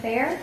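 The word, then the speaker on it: Fehr: My name is Fair. It's spelled K A T L Y N M N E.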